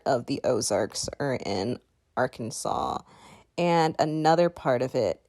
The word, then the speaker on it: Arkansas: of the word because it is not said how it is spelled it is close to how it is pronounced in french we say arkansas arkansas and the capital